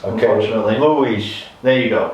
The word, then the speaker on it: Luiz: Luiz. There you go. Right. Because if you call me Louise, you're saying that I've got a lady's name.